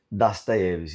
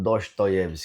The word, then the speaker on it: Dostoiévski: Das Deves e não Dostoyevs como muita gente fala. Das Tevs é um nome russo e ele tem essa pronúncia diferente de como a gente leria o nome dele em português.